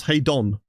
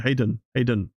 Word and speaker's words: Hayden: I always get to pronounce Hey Don. I think your spelling name is more easier. I didn't know what I was calling you. Hayden. There's an E in there.